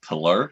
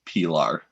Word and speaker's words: Pilar: had one l so it's not pillar it's pilar and then he unsubscribed